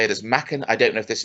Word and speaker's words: Machen: Machen. I don't know which one is right. I think it's Machen. It's certainly pronounced as Machen in The Fog, because of course they have John Houseman's little cameo as Mr.